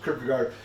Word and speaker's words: Kierkegaard: you know uh it's Kar the D is silent and the double A